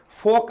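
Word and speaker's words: fork: फोक, आपने नूडल्स आदि खाए होंगे, वो फॉक से खाते हैं, कुछ लोग फॉर्क बोलते हैं। बच्चों यहां पर रे क्या रहने वाला है? साइलेंट रहने वाला है, इसको फॉर्क ना बोलकर फॉक बोलेंगे।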